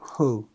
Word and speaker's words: who: One example is the word who. Even now I sometimes pronounce it without without rounding my lips enough, but he taught me to shape my lips as if I were about to kiss someone.